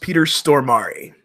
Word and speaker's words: Peter Stormare: There's at least Nice one important fact, and that is that it's pronounced Peter Stormare, just in case anybody was wondering.